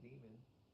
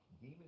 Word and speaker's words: daemon: Or even you become the demon, the daemon. Some people would pronounce demon daemon in our sense, and they interchange it, intertwine it.